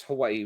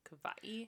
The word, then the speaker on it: Hawaii: Um, people, I could be conflating these two, but people who are more on the like on Kauai would use more of a V sound for that W. Hawaii.